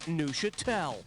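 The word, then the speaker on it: Neufchâtel: The cheese is pronounced Neuchâtel. And the mouthful of Neuchâtel is pronounced like this. So in other words, the F is silent.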